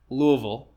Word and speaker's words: Louisville: good dude uh and then Charles higinbotham from Louisville sorry Louisville if I'm gonna say it properly Louisville Kentucky